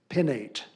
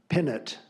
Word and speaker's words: pinnate: The word is pinnate. Pinnate. Alternate pronunciation, pinnet.